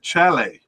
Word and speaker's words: Chelle: Cup uh was Eric Chelle. I'm not sure how to pronounce the name. It could be Chelle or Chelle. Uh, no, Chelle. It's Chel. I can't think of any other way to pronounce it.